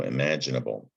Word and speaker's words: imaginable: So imaginable.